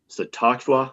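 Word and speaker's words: Tsathoggua: Well, I'll try to pronounce it that way. For those who are curious, it's Sathoggua.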